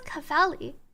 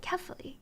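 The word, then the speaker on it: Kephale: I thought it was Cafali, but apparently they pronounce it carefully.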